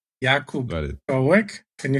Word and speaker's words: Jakub: Jakub.